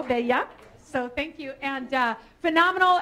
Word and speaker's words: Bella: And I said her name is Bella, but pronounced it in Espanol, Bella.